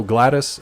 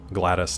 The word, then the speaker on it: GLaDOS: Oh, Gladys, I think it's GLA, and then capital DOS, like DOS.